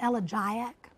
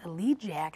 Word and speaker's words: elegiac: I always said elegiac, and somebody wrote me a note giving me a link to the pronunciation of elegiac on Webster's or on some dictionary, and it was elegiac, and I had thought it was a joke.